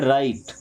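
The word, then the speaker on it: write: राइट।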